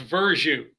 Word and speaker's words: Verzuh: for that great introduction my last name is pronounced version versus that's it coming to your live